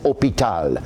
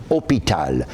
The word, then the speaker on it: hôpital: You do not pronounce an H at the beginning of the word.